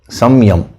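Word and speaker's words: saṃyama: this principle of Siam it's actually some Yama samyam so in the while pronouncing we say Siam Siam now mentioned that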